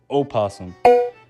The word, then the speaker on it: opossum: species opossum is called the virginia opossum yup opossum is the correct pronunciation but i feel like most people just refer to them as possums here in america now they are native to